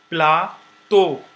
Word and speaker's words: plateau: Plateau, you see, is O also.